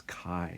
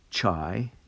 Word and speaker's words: chi: spelt like this but it's actually pronounced with a long i so it's chi so it's not it's not chai and and by the